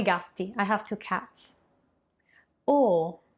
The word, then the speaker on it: o: O, the closed O, which is a bit more similar to how you would pronounce the letter O in English.